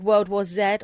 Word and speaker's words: World War Z: see it's bit like World War Zed or World War Z if you are you know at the pronunciation American but it's very much